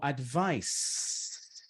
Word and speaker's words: advice: Será que a gente pronuncia esse I? Com certeza não. A palavra ela termina antes. Ela vai terminar no advice. É som de S.